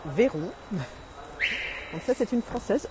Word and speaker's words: Veyron: So this is French. This is why I'm pronouncing Veyron.